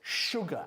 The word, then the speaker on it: sugar: Se escribe con una S, pero es sugar, azúcar.